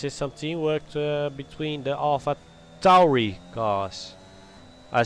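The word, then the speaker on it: AlphaTauri: And this is some teamwork between the Alpha Tauri cars. I said it right, Big Buggy. I said it right. Alpha Tauri. Tauri. With a T.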